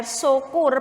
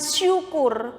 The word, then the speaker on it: sokur: Jadi yang di sini di dalam KPJ itu yang benar tertulisnya sokur. S-O-K-U-R, sokur, bacanya sokur. Jadi bukan syukur.